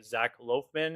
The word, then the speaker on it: Zac Loughman: This is episode five and today I am joined by Zach Loafman. Is that how is that the correct pronunciation?